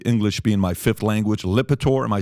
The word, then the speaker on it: Lipitor: listen, excuse my English being my 5th language, Lipitor.